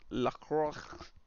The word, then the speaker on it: LaCroix: songs Mr Jones says Lacroix is pronounced it's French for cross Mike Heck says hey